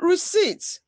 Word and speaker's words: receipt: PT in receipt. ED in picks, slats. Fixed, washed, watched, kissed. Note, letter B is silent in doubt and daughter, while P is silent in receipt.